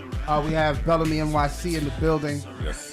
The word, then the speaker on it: Belleme: I say Belleme. Belleme. Yeah. Just like that, Belleme. Belleme. But like Bill Bellamy.